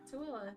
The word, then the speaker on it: Tooele: Can you pronounce Tooele? Yeah. Tooele, yeah, because we Tooele.